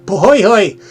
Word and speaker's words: Pohoy: I call it Pohoho or some ridiculous thing, and Mike jumped out and said, "No, it's Pohoy."